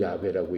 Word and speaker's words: 야훼: 그 하나님을 여호와라고 불러요 야훼 jhwh 그걸 야훼라고 읽어요 야훼라고 있는데 야훼라는 말을